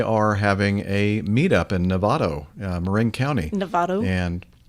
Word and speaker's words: Novato: having a meet-up in Novato uh Marin County Nevada and Nevada n-o-v-a-t-o I said it right not the state of Nevada no no I just